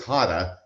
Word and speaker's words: Hada: I know it's Hada, and I mispronounced it when I introduced him on the show.